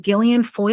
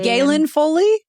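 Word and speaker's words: Gaelen Foley: is another one and how always say her name wrong Gillian Foy Jillian Foy is g l e Galen Foley Galen yes that's how I've always said it in my head Galen Foley yeah yeah oh my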